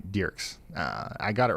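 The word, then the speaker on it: Dierks: Multiple viewers are saying it's pronounced Derks, Arkansas, like a deer, not Dirks. And yes, Ryan, they still want tomorrow's forecast like yesterday. Okay. All right, Derks.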